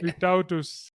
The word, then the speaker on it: Vytautas: How do you pronounce that? Yeah, Vytautas.